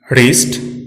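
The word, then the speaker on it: wrist: W silent रहता है जब यह वर्ड के आरंभ में हो और इसके तुरंत बाद आर आए। राइट, रिस्ट, रॉन्ग, इन सभी शब्दों में डब्ल्यू साइलेंट है क्योंकि वर्ड डब्ल्यू से शुरू हुआ है और इसके ठीक बाद आर का प्रयोग हुआ है।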